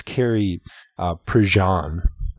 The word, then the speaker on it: Prejean: And now we talked about, and we pronounced it wrong, it's Carrie Prejean, not Prejean, the Miss California, or former Miss California.